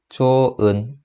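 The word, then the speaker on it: 좋은: 저는 이렇게 발음했어요. 조은. 그죠? 옆에 친구는 어떻게 발음했어요? 이거 아니죠? 이렇게 되죠. 다들 이렇게 발음했나요? 그죠? 우리 모국어 화자기 때문에 이 정도는 할 수 있습니다. 그쵸? 자, 현상을 보면 뭐가 탈락했어요? 예, 히읗 소리가 탈락했습니다.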